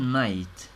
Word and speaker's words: knight: someone یکی like a prince مثل یک شاهزاده or a knight یا یک شوالیه. night شب میشه. البته نوشتنش اولش فرق میکنه تلفظ یکیه ولی اینجا منظورش شوالیه.